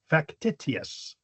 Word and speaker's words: factitious: Factitious. I'm saying it so you can spell it right. Oh, how how is it doing that? How is it normally pronounced? Factitious, I think.